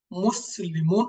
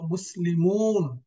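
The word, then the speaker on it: مُسْلِمُونَ: আমরা কিতাবুন বলি না আমরা বলি কিতাবুন এক আলিফ লম্বা মুসলিমুন বলি না মুসলিমুন মিমে এর মিমের পরে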